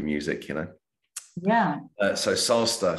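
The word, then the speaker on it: Sasta: you know yeah so salsa so it's spelled s-a-s-t-a think of pasta but with an S there you go yeah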